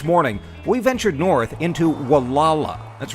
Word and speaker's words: Gualala: we ventured north into walala that's right the G is silent by the way if you're traveling on